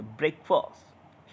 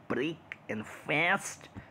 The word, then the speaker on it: breakfast: ब्रेकफास्ट, you know, like F is almost silent. ब्रेकफास्ट, ब्रेकफास्ट, ब्रेकफास्ट, ब्रेकफास्ट, ब्रेकफास्ट, like F is almost silent, you know. It's नॉट ब्रेक एंड फास्ट, इट्स not like that.